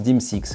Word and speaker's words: D/MS/X: Et sur le dessus, on voit les lettres DMSX qui se prononcent DIMSX.